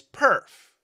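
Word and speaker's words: PIRF: I created the name the name is perf as in perfect English but the spelling is different p i RF and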